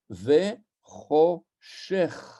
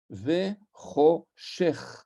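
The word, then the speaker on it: וְחֹשֶׁךְ: Exemple, comme je l'ai indiqué ici en bas à gauche, Ve Choshech. Ve Choshech. Le ch final, c'est un kaf, sauf qu'il est à la fin et on ne prononce plus kaf, mais on prononce chaf.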